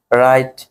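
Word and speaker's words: write: রেস্টলিং, মনে রাখবে, শব্দের প্রথমে ডব্লিউ থাকলে ডব্লিউ উচ্চারণ হবে না, ঠিক আছে? যেমন রাইট, রাইটার, রং, রেস্টলিং, ডব্লিউ বাদ, ঠিক আছে?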